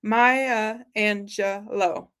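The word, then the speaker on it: Maya Angelou: has been so kind to like, uh, phonetically pronounce it for us. Maya Angelo. Maya Angelo. Thank you. Maya Angelo.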